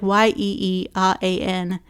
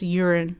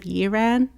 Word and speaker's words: Yeeran: I've ranted about this elsewhere, but her name is like Yeeran, and the narrator says urine instead of Yiran.